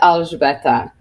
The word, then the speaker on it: Alžbeta: It is Alžbeta. That's how you speak it, but I'm saying it with an accent now.